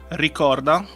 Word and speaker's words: Ricorda: And so how do you pronounce both of these correctly? Ricorda.